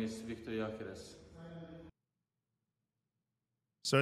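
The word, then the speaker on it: Gyökeres: My name is Victor Jokeres. So it's not Jokeres, as some of you guys were saying. It's Jokeres. It's Victor Jokeres. Jokeres.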